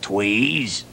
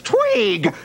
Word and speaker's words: Tweeg: Teddy Ruxpin and his friends are flying to the mushroom forest, Tweez. The name is Tweeg. Tweeg.